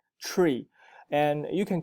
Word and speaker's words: Tree: sounds like a double it sounds like a t r double e tree and you can call